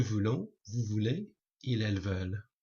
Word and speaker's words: veulent: Vouloir, to want: je veux, tu veux, il, elle, on veut, nous voulons, vous voulez, il, elles veulent. Remember again, don't pronounce that T on the end.